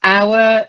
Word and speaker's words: hour: I know it's hour, it's a silent H, but horror, it's a voiced H, unless you come from Nottingham, in which case you say, oh, the horror.